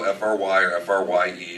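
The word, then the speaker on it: Frey: Some people spell it F-R-Y or F-R-Y-E. It's spelled F-R-E-Y, but pronounced Fry.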